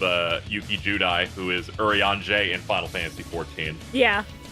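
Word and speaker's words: Urianger: Fantasy 14 yeah oh is that how you pronounce that name yes what are you kidding I've been reading it as Yuri anger the whole time I almost there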